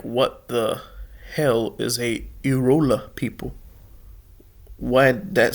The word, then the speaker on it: Irula: Irula, natively Irla, Irla. So I'm saying it wrong.